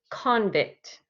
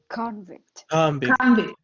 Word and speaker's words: convict: good convict everybody say convict convict good okay i put the stress on the c-o-n part and when i do that that means that i am using the noun form i'm talking about the